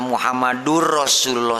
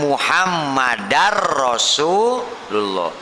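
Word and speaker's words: محمدًا رسول الله: anna Muhammadur bacanya Ya jangan wa Ashadu anna Muhammadur Rasulullah salah karena ada Amil nawasib Ana itu Amil nawasib kalau ada Ana sebelum nya berarti Bacanya apa wa Ashadu anna muhammadar rasulullah beda lagi kalau tidak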